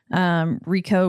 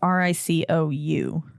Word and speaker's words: Ricou: Rico Browning. I hope that's how you say his name. It's Ricou.